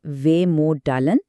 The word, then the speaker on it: Vemödalen: لیے ایک لفظ ہے ویموڈالن۔ ویموڈلن، اس کا تلفظ ہے ویموڈالن۔ یہ لفظ سویڈش زبان سے لیا گیا ہے۔